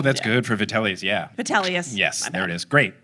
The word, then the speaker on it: Vitellius: Fidelis, who was described, I don't know if that's how you say his name, he's described as having a medicine ball belly.